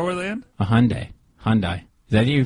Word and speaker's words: Hyundai: what what car were they in a Hyundai Hyundai is that you pronounce it yeah Hundai right now you get all Meek usually all